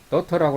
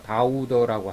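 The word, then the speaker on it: daughter: 메모 한 가지 한다면, 다우더라는 영화 제목은 더터라는 우리말 발음을 그대로 옮긴 건데, 더터라고 하지 누가 다우더라고 합니까? 보통 더터라는 발음에 대한 콩글리시에 해당된다.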